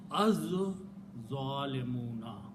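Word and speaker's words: الظَّالِمُونَ: It will kill the sound of lam. So we'll pronounce az zalimuna. Zo 2 times. No pronunciation of lam.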